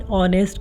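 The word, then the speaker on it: honest: जिन शब्दों में H silent होता है उनसे पहले एन का प्रयोग होता है। ठीक है, एन एयर, एन ऑनेस्ट girl, N आर।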